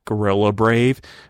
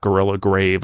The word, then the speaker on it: Gorilla Brave: r a v e not gorilla grave I think I've probably mispronounced it on before and people like gorilla grave what does that mean no brave brave but anyway there's a